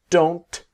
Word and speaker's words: don't: the negative ie they don't have okay what I want to show you in this module is the T is silent I don't have I